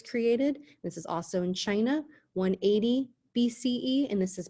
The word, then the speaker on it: Qin: qin empire emperor of china so the first dynasty is the qin dynasty spelled with a q because the first emperor chin united china and these